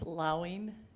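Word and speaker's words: Lauing: from Doris wasn't sure about your last name pronunciation it's okay mayor Alan it's allowing l-a-u-i-n-g uh I first want to thank you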